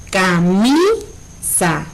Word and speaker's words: camisa: Si pronunciamos la palabra, decimos camisa. Entonces, como es la que tiene mayor énfasis en el sonido o intensidad, entonces esa es mi sílaba tónica.